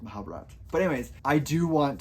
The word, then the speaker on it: Mahabharata: the Mahabat or or Mahabharata. It's it's spelled Mahabharata, but I think the the author pronounces it without the A at the end. So I think it's it's Mahabata.